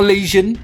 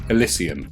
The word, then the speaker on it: Elysian: The one the Alysian drop troops use, not Alleion. That sounds awful. Elysian.